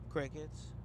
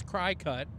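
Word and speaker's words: Cricut: that's what it's called it's spelled like c r i c t and I thought it was cry cut because it cuts stuff okay but apparently it's Cricket so I don't know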